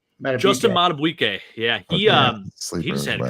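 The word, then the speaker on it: Madubuike: Justin Matabuike.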